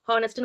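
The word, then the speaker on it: honest: என்ன பாத்தீங்கன்னா H hour ஹானஸ்ட்னு வந்த இடத்துல எல்லாம் ஹானஸ்ட்னு வந்த இடத்துல ஹச் வந்து உச்சரிக்காது ஹா அப்படின்னு தான் ஸ்டார்ட் ஆகுது எப்படி வருது ஹா ஹான்றது ஆன்ற மாதிரி வருது ஓகேங்களா கரெக்டா ஆன்றது அப்ப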